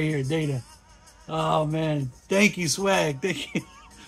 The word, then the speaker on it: Data: Data, right?